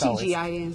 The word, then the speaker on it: TGIN: Is it the acronym or you pronounce it? Just TGIN. TGIN.